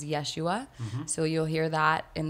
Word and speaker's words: Yeshua: we refer to Jesus we use his original pronunciation of his name with is which is Yeshua so you'll hear that